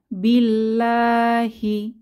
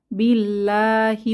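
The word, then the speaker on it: بالله: আল্লাহর আগুন বা জাহান্নাম এরপর আছে বি এখানে বা এর নিচে কাসর বা জের অর্থাৎ আল্লাহ শব্দের আগের হরফে জের আছে তাহলে এখানে আমরা পাতলা করে লা আ ধ্বনিতে পড়বো বিল্লাহি বিল্লাহি পড়বো এখানে আমরা বিল্লাহি পড়বো না বিল্লাহি আল্লাহর কাছে অর্থাৎ আল্লাহ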